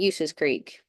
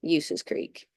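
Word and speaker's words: Ulysses Creek: Trap, Thousand Sticks, Bull Skin, Horses Creek, and Uses Creek. Now, I know that's spelled Ulyses, but I assure you it's pronounced Uses Creek.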